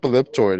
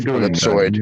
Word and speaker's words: ellipsoid: If you look up elliptoid, it says it's the mistaken pronunciation of ellipsoid.